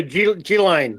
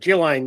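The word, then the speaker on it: Ghislaine: They call her Gilane. Gilain. They don't pronounce the S, but you got an accident.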